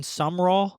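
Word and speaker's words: Sumrall: John Sumroll.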